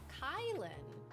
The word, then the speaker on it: Kylin: People say my name like yours mistakenly. It's Kylin. Kylin.